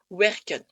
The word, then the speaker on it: werken: Werken. Wer est une syllabe fermée, comme on l'a dit, puisque ça termine par un R.